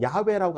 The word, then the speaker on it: 야훼: 제가 찾아보니까 이 야훼라고 하는 발음이 더 히브리인들이 원래 했던 발음에 더 가깝다고 해요. 그래서 야훼라고 하는 발음이 더 성경적인 발음인데 뭐 야훼든 여호와든 여호와라고 하는 이름 자체가 우리에게 주는 이 뭐라고 할까요?